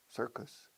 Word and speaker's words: circus: Se escribe circus, pero se pronuncia sí, señor. Yes, sir. ¿Cómo se dice sí, señor? Yes, sir. Sir, sir, circus. Us. Sir, us. Nosotros. Con una C, una sonido de K en medio.